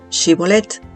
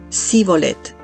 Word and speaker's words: Shibolet: Si respondía que no, le pedían que pronunciara la palabra Shibolet. Los de la tribu de Efraín, debido a su dialecto, pronunciaban esta palabra Sibolet, lo que delataba su identidad.